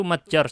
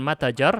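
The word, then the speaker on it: متجر: Wa matjar, itu matjar, seharusnya bukan matajar, salah harokatnya.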